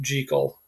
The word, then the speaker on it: Jekyll: hyde but in fact it's supposed to be pronounced jiggle um it's an old scottish name and so